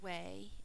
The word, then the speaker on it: weigh: four letter a well a spell way as in wait out loud w e